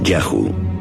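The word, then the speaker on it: Yahu: donde los a subirían se llamaba y hw probablemente pronunciado yahoo seguramente el nombre de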